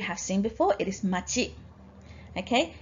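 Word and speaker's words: 町: Now, another pronunciation that you need to recognize is cho. You probably won't need that until year 12, okay, but you might as well learn it now. Now, machi and jo, how do you decide when to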